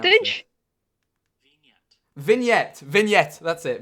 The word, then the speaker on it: vignette: How do you pronounce Vintage? this? Vignette. That's it. Vignette.